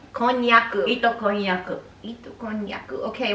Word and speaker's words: konnyaku: Konnyaku. Konnyaku.